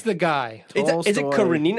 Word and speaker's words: Karenina: Karenina? It's Karenina. Bro, I don't Anna Karenina. friggin' know. I've heard it pronounced, and I've seen that it's like fucking this thick.